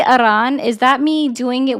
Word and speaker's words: Iran: Why would you roll your R for Iran? Because Aran is the correct pronunciation.